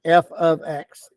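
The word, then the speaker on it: f(x): f of x equals and that's how you pronounce that f of x f of x okay so that replaces the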